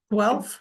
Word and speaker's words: Guelph: I feel like it's Guelph or golf? Guelph. Definitely. Thank you. Yeah. The way that Chris pronounced it, that's where he's from.